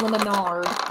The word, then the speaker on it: Lemonade: Will it be named Sweet Lemonade? Lemonade! Yes, but it will be pronounced Lemonard.